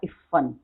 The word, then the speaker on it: इफ़न: इस इफ़न को, इफ़न आधा फ पूरा फ दोनों के नीचे नुक्ता है, इसलिए इसका उच्चारण होगा इफ़न।